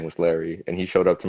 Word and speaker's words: Leri: your family mm-hmm yeah so my name is larry um but uh you guys so like to say in spanish it's lady just a little fun